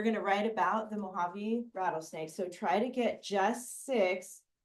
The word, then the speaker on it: Mojave: people say that yeah it's actually a Spanish word and in Spanish the J makes the H sound so it's actually Mojave Mojave it's very close